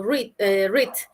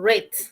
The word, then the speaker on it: read: Como les decía, este verbo se escribe igual, pero se pronuncia diferente. En presente se lee como read, en pasado como red, como el color rojo.